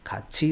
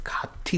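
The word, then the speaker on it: 같이: खाची is together. Here हाँ ये मैंने पहले नहीं बताया आपको, ये शायद आप कन्फ्यूज हो रहे होंगे इसको खाची क्यों पढ़ रहे हैं, है ना, क्योंकि हमारे रूल के हिसाब से तो ये त होना चाहिए प्रोनाउंसिएशन, और त ना भी हो इसके बाद में ई आ रहा है तो इसका प्रोनाउंसिएशन कायदे से खाती होना चाहिए, है ना, टेक्निकली लाइक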